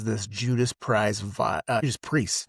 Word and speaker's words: Judas Priest: It really has this Judas Prize vi uh Judas Priest, not Judas Price.